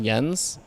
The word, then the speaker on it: Jens: you call him Jen's because it's actually pronounced yens but it annoys the